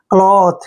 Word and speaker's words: cloth: CLOTH, देखिए सी के बाद एल आया फिर से, तो सी का उच्चारण क्या करेंगे, और एल को ले पढ़ेंगे, ओ को की मात्रा पढ़ते हैं, TH को थे पढ़ते हैं। क्लॉथ क्या पढ़ेंगे, क्लॉथ।